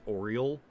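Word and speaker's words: Auriel: Basically, uh it's funny that they're that the Golden Saints actual dra name is Ariel, but the way they pronounce it is oral, like the bird.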